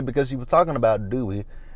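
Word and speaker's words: Duy: his name i'm like how do you pronounce that d-u-y my goal was and she said dewey so she said his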